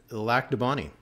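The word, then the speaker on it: Lac du Bonnet: don't get upset but it's not a legend it's and lack the Bonnie there you go like the bunny that one's a stretch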